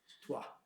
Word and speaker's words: Troyes: Rashi came from a town in northern France called Troyes, which is written Troyes. Troys, pronounced Troyes. I think I got it right. My fellow Frenchies in Ol Nechama, they would correct me right away. Troyes.